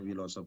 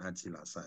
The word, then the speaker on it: Wilasa: saya Aji wilasa itu ya bacanya wilosof bukan aji lasa itu ya Oh iya wilasa iya